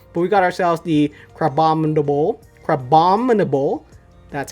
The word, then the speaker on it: Crabominable: But we got ourselves the Crabominable.